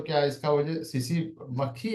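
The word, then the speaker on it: tsetse: इसको T silent रहेगा यहाँ पे, सीसी फ्लाई कहते हैं।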